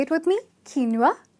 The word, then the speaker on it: quinoa: parmesan its parmezon with a z in the pronunciation, its not pesta its pasta ok,it’s not qio-nua its keen-wah (quinoa) say it with me keen-wah sounds really nice right , and there is